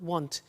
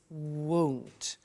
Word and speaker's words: won't: It's not want, it's won't.